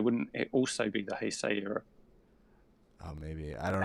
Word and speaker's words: Heisei: And it's the end of the hearsay era. Heisei. That's what Heisei. Oh, I asked yeah, him. yeah, yeah. I asked him how to pronounce it. He's like, it's Heisei.